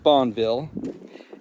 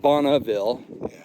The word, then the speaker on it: Bonneville: Now look, so I studied this a little bit, and Bonneville, it's actually pronounced Bonneville, not Bonneville.